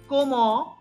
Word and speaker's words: comment: E-M, E-N is pronounced as on. So, comment. If I'm not clear, if you are finding a difficulty, please tell me.